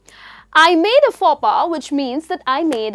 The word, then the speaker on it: faux pas: Now that's how you pronounce this word or this phrase, faux pas. I made a faux pas, which means that I made a boo-boo.